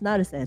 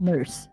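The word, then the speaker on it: nqrse: Yes, it's pronounced Naruse, not nurse.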